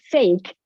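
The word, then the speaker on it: фейк: And the word fake is now a Russian word, fake. I'm pronouncing it correctly in Russian.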